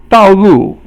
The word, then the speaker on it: 道路: 道路 is both fourth tone, 四声, and it just means the road.